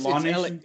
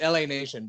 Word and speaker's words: LA Nation: Is it Law Nation? It's LA Nation, but voiceover pronounces it Law Nation.